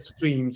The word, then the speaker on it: Striim: Who came up with the name Stream, and why the two I's? Because every time I tell people about Stream, I'm like, it's STRIIM pronounced as Stream.